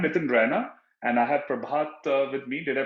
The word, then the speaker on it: Prabhath: you know I'm nitin Rana and I have prabhat with me did I pronounce the name right yes yes uh Nathan